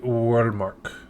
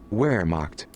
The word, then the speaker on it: Wehrmacht: Pronunciation. How to say Wehrmacht. Wehrmacht. Wehrmacht.